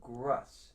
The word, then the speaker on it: Grus: And Danielle says, ", my name is pronounced Russ with a G in front." So, Grus.